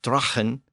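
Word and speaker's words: dragan: So as we saw earlier, sagu eventually became saw, and the word D-R-A-G-A-N, pronounced drachen, it eventually became draw, D-R-A-W, and L-A-G-U, pronounced lahu, became law, L-A-W.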